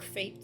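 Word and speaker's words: fête: Their priests have all the self-appointed authority of a village fet organizer or fate some people pronounce it.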